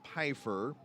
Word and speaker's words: Pfeiffer: The Long Island Ducks have brought on reliever Dylan Pfeiffer, and that is the correct pronunciation of the name, I am told. There is no first F.